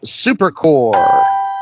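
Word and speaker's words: Supercorp: Superman Supercore with a silent P.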